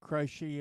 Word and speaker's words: Croce: But Croce is right. Croce. Okay, it is Croce.